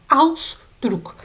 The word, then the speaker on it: Ausdruck: Ausdruck. Bir de dikkat edin prefikslerle oluşturulan ve propoz yani edatlarla oluşturan kelimelerde biz Aussprache yani telaffuzu şöyle yaparız. İlk zilbe dediğimiz Ausdruck vurgularak okuruz arkadaşlar.